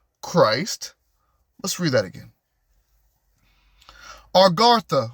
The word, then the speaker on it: Agartha: Argatha, which is spelled Agartha.